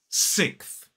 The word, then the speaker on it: sixth: And what a lot of native speakers actually do is drop that s sound. So it becomes more like sixth. So it's sixth. Ending in that unvoiced th sound. Sixth. 1 syllable.